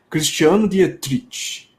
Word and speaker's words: Cristiano Dietrich: aí eu vou ter ver se eu consigo pronunciar direito hein Cristiano Dietrich Deuso livre cara Acho que ninguém nunca falou